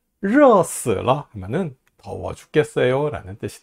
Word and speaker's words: 热死了: 혀 말아 올리고 발음해 봅시다. 热死了 하면은 더워 죽겠어요 라는 뜻이 돼요.